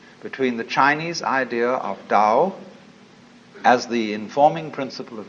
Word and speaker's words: Tao: a da ta AO pronounced Dao in the Mandarin dialect Tao in the changhai dialect